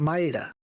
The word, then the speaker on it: Maeda: been her whole body maida yes is it maida maida yep uh you said it right the first time Maita okay could you test